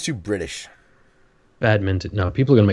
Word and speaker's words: badminton: It is not mitten. It's not a bad mitten. It's a bad mint on. Don't forget the N. Minton. Minton. Badminton. That sounds too British. Badminton.